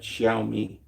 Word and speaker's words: Xiaomi: all the places I just named and more which are Xpang, Neo, Ji, Cherry, um, X Yomi, X I O M E. I guess you pronounce that Xiaomi.